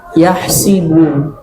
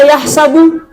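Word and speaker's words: يحسب: Contoh yang pertama bacanya hasiba yahsibu. Kalau ada yang baca yahsabu, belum tentu salah.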